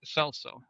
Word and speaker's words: Celso: name after her father, Kelso. That's good. Celso, I believe is how you pronounce it in Spanish.